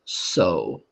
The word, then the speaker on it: sew: Now, this last word is really, really tricky. That's pronounced so. So. So.